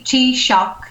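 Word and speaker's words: Taoiseach: I pronouncing it correctly TK T t-shock t-shock sorry t-shock right means chief chief in Irish Chief in Irish okay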